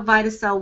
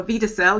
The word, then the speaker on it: Vidacell: so now we understand how vitae cell works or Vita cell you can pronounce it either way but in terms of